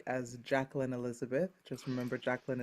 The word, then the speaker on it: Jacqueline: Just remember, Jacqueline is the French pronunciation, so CQU.